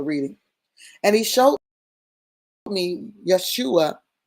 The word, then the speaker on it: Yeshua: And he showed me Yeshua, right? The high priest. I know it says Joshua, but there's no J in Hebrew. And the pronunciation is Yeshua.